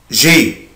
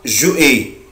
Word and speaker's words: j'ai: أحفظهم هو كده avoir j'ai بس كده اسمها j'ai. في ناس بتنطقها جو اي، طبعا غلط جدا، مفيش حاجة اسمها جو اي.